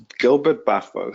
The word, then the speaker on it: Gilbert-Baffoe: uh um and forgive me if I pronounced your last name no problem Gilbert beo Gilbert bu Gilbert baffo yeah Gilbert so I'll let I'll